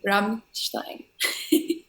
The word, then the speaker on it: Rammstein: As you corrected me, Rammstein. Rammstein. Oh, right. Yeah. How did you pronounce it?